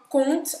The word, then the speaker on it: compte: Un conte tem um P no meio, mas não se pronuncia. E o que é un compte, aqui no caso, é uma conta, como uma conta bancária, por exemplo, certo?